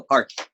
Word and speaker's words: Parth: No, Parth. Parth is right. Parth. Like a TH, the sound, or The like sound. Parth? No, TH sound at the end of it.